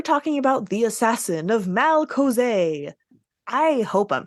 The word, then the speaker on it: Malcozé: No, we're talking about the Assassin of Malcozé. I hope I'm pronouncing that right. I mean, I'm assuming you are. You have the accent on the E, so you're good there. Malcozé.